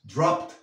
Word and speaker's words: dropped: Recuerda, dropped, porque la P es una consonante suave. Te invito a que veas el video que he hecho sobre cómo pronunciar los verbos regulares en pasado para que los pronuncies correctamente. He dropped by, dropped. Nos comemos esa E.